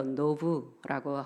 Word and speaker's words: 놉: 노비란 히브리어로 노브라고 발음하는데 이것은 높은 곳이라는 그런 뜻을 갖고 있습니다.